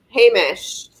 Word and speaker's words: Hamish: How how do you pronounce that? You gave it to him. Hamish.